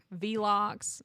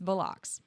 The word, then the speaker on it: Velox: heard probably five or six like the the syllable people focus on or what we've heard like vlocks is a really popular one um vlocks vlocks yeah velix we actually thought about like going around a